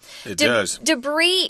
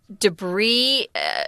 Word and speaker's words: debris: breaths but it's not it's French and so you don't pronounce the S and it's a word that's non-count you can't say debris there's no other form